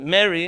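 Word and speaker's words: Mehri: for the record m-e-h-r-i it's a name it has an h in it so you pronounce it if you don't have a good farsi pronunciation but how dare you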